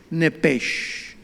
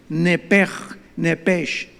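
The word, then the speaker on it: nefesh: suena nada más que la ch en el hebreo se pronuncia como J se pronuncia como jota y es la palabra en todo el nuevo Antiguo Testamento que se usa para el alma nepech versículo 29 y exhaló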